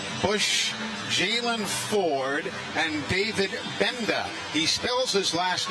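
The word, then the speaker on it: Gbenda: Jalen Ford and David Benda he spells his last name with gee you'd think it would be pronounced but the g is silent so David benda the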